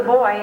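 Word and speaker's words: buoy: The boy in this is supposed to be a man, but it's spelled B-U-O-Y.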